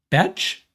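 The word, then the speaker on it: Bech: And we're deliberating how to pronounce his last name. We've decided it's Jack Besh out of TCU.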